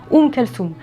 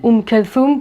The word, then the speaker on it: Oum Kalthoum: peu importe et d'ailleurs les égyptiens eux-mêmes prononce avec leur accent oum kalsoum donc vous voyez peu